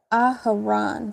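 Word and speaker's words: Aharon: This this word aharan. That's that's the correct way to say it.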